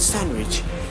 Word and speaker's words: sandwich: We have to silent the letter D. So you cannot say like Wednesday, you cannot say handsome, you cannot say handkerchief, you cannot say sandwich, but correct pronunciation will come. The certain rule is that Wednesday, handsome, handkerchief, and sandwich. So now just move for the silent E.